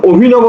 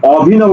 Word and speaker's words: অভিনব: আসো 31 নম্বর বলছে অভিনব শব্দের শুদ্ধ উচ্চারণ কোনটি অভিনব অভি ন বউ করে বহলে দেখো তো এই অটা কিন্তু অভিনব বলি না কি বলছি অভিনব তাহলে ও আছে কোথায় দেখো ও আছে দুইটা এবার দেখো নব শেষ